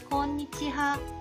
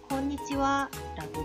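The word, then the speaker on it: こんにちは: 조사로 사용될 때가 있어요 조사로 사용될 때에는 무엇 무엇은는 이러한 의미로 사용되고 발음을 와로 발음합니다 곤니찌와의 원래 뜻은 오늘은 어떠세요 오늘은 잘 지내고 계신가요 나는 의미를 가지고 있고 뒷부분에 어떠세요는 생략된 것이라고 생각하면 됩니다 그래서 오후 인사는 곤니치하가 아닌 곤니찌와라고 말해야 합니다 곤니찌와는 일본의 안녕하세요라는 인사말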